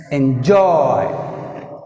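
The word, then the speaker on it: enjoy: Next ఎంజాయ్, ఎంజాయ్. జాయ్ is second syllable. That's why you put stress mark on second syllable.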